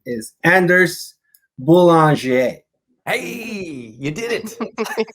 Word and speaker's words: Anders: is anders which is is swedish or scandinavian it's probably pronounced andesh originally but yeah named after